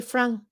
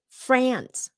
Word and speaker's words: France: Vietnamese and non French so they always say Frank Frank and then no one understands until you say it about five times so it's France France it's that a that short Apple Apple so it's not France it's France American pronunciation so the Eiffel Tower